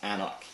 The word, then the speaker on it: AnCnoc: But the middle C there is silent because it's Gaelic. So it's pronounced AnCnoc.